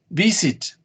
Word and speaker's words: visit: Visit. What is the stress? What is the stress? The stress is in the first syllable. Visit. No, you don't say visit. You say visit.